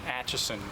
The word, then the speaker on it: Acheson: I need your name, and I need you to spell it. My name is Acheson, that's, and then A-C-H-E-S-O-N.